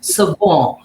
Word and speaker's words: Savion: I'd never heard the name Savion before, and it took me even ages to be able to pronounce it properly. It's actually Savon, but it's just never said completely right.